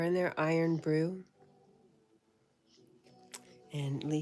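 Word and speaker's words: Irn-Bru: Lee says, "Iron brew." Pronounced iron brew.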